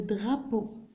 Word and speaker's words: drapeau: Le drapeau. Le drapeau. Ça, le drapeau, c'est l'alem. E-A-U se prononce O.